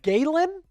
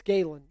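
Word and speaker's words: Gallen: Uh both a's are pronounced the same. Zach Galen wouldn't. Maybe it's Gayen.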